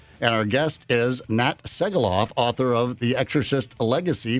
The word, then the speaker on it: Segaloff: It's Segaloff with an S-A-Y, only it's spelled differently.